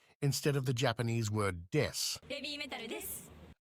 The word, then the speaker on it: です: of the Japanese word des, Babymetal です。 as des means I am or we are and is pronounced similarly.